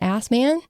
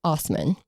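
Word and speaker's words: Assmann: It's spelled Assman, and a lot of people will refer to him as Assman, but it's actually pronounced Osman.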